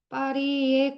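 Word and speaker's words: Paris: 10번부터 14번까지는 이제 빠리의 그린에 대해서 이야기하겠습니다. 보통 사실은 파리스라고 영어에서는 읽지만 부료에서는 이게 빠히라고 하거든요. 빠리.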